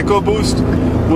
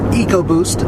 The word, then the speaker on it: EcoBoost: I personally go for EcoBoost as it sounds cooler. Yeah, I go for eco too because it sounds like economy, ecology. That's what I think they want, instead of repeating sound.